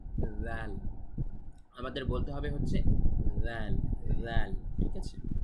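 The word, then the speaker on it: ذال: খেয়াল রাখবেন দাল বলার সময় আমরা একটু আগে যেভাবে সা উচ্চারণ করেছিলাম, জিহ্বার একদম সামনের সাইডটি উপরের দাঁতের সাথে আমরা লাগিয়েছি, ঠিক একইভাবে জাল বলতে হবে আমাদের। জাল, জাল, জাল।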